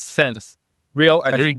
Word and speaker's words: Sensereo: So I will pronounce it as sense rail sense as sense real safety real.